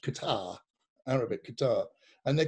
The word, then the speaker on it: Qatar: ago now i think we were in um qatar bahrain and abu dhabi in dubai what's the uh what you said about like the airline oh yeah they're um they're called it's q-u-a-t-a-r because it's pronounced qatar arabic guitar and they're called qatar airways and